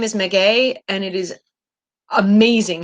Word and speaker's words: Meguey: My name is Meguey, and it is amazing how often people cannot pronounce it.